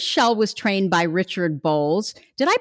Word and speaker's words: Bolles: As a career coach and counselor of 30 plus years, Shell was trained by Richard Bolles. Did I pronounce that right, Shell?